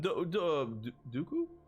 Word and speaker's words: Dooku: We got Captain Dooku. Rhymes with poo.